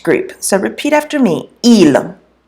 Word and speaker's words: ils: so repeat after me Elam Elam you'll notice that I don't pronounce the S on there it is always silent unless it's followed by a vowel now ela means they